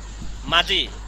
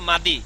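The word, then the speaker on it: 맏이: যারা বাচ্চিমের নিয়ম জানে না, দেখবেন তারা পড়বে মাদি। তারা কি পড়বে? মাদি। হ্যাঁ, আর যারা নিয়ম জানে তারা পড়বে কি? মাজি, ঠিক আছে?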